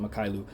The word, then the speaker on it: Mykhailiuk: Can't believe I'm saying his name, pronouncing his name correctly, but that is exactly how I pronounce it, Mykhailiuk.